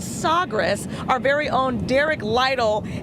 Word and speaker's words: Sagres: Now we're aboard the Portugal ship, the Sagres is how you say it in their language.